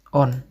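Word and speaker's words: он: Kalau dia laki-laki on ya, on.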